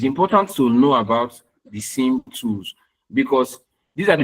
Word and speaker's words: SIEM: if you look at this part here now, they talk about simulating this SIEM, SIEM, is pronounced SIEM, not CM, all right?